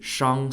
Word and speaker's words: Shang: of you who don't know the Shang Dynasty Shang spelled s-h-a-n-g was the second recorded Dynasty in